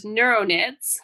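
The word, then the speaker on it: Neuroknits: really i thought up this name which was neuronids which starts with the silent k as you'll see and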